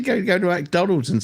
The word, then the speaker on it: McDonald's: have M littley and you don't say mac you say Mick right it's it's McDonald's there's no a between the m and the C you all don't know